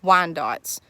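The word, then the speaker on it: Wyandottes: we have tons of wine dots that's how we pronounce it we've have silver lace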